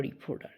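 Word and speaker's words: reporter: দেখো আমি ঠিটা কিন্তু ডি উচ্চারণ করেছি, তাহলে আমি ঠি উচ্চারণ করতে পারি, ডি উচ্চারণ করতে পারি। রিপোর্টার অথবা রিপোর্টার। কিন্তু কেন? আমরা ঠি এর আশেপাশে যখন ভাওয়াল পাবো তখন ঠি উচ্চারণটা ডি এর মতো করব।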